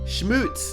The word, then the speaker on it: Schmutz: Schmutz.